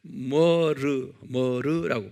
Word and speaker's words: myrrh: 그것을 이제 영어로 머르라고 발음해요.